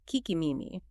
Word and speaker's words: Kikimimi: In one account, a name written like the moon god Tsukiyomi is apparently pronounced Kikimimi, meaning listening ear, which